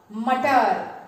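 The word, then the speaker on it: मटर: So, ma plus Ta plus R, mutter. Say with me, mutter. One more time, mutter. And do you know what is the meaning of mutter?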